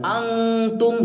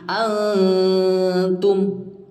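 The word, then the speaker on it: أنتم: huruf Arab ya jadi karena dia dekat maka tidak terlalu samar kita membacanya bukan Antum Bukan tapi Antum huruf kita ketika bilang A itu sudah bersiap ke huruf ta mulutnya selanjutnya di huruf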